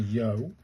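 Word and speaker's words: よ: This is pronounced like the yo in yo-yo. So, this is a yo.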